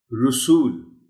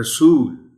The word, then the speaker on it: رسول: درست تلفظ ہے آپس۔ رسول، اصل میں ہوتا یہ ہے کہ کچھ الفاظ ایسے ہیں جیسے اصول، قبول، تو اس لفظ کو انجانے میں بعض لوگ رسول پڑھ دیتے ہیں، یعنی رے پر پیش کے ساتھ۔ درست تلفظ کم از کم یہ لفظ ایسا ہے کہ اس میں کوئی رعایت نہیں دی جا سکتی، رے پر زبر ہے اور اس کو اسی طرح پڑھا جانا چاہیے۔ رسول، رنجشیں، رنجشیں، محترم